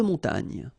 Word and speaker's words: montagne: So remember here, O-N, on, mon, ta, and then this G-N-E, gne. Montagne.